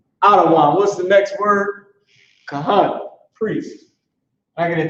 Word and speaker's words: Kahan: All right, Kahan means priest.